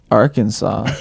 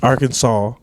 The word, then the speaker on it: Arkansas: Like Arkansas, you would expect that S on the end to be a W, but we call it.